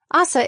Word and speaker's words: Asa: Assa is at first confused, but relieved there is someone there to get her.